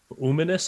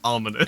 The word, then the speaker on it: Uminous: We set sail to the Uminous Isle. Yes. We saw Definitely not pronounced ominous.